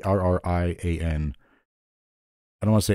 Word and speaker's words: Arrian: Arrian. I don't want to say Arian because I'm pretty sure that's not right.